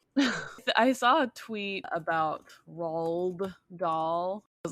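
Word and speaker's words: Roald Dahl: it ra raw that's why I say Ral doll and everyone knows who I'm talking about and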